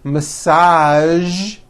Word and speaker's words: massage: television very good now there are only a few words that have the voiced z sound at the end a few of these words are the color beige the word massage and the word Prestige okay now that you